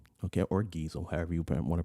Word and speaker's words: Geisel: so uh think about that okay theodore seuss geisel okay or gizel however you want to pronounce that who is this guy let's find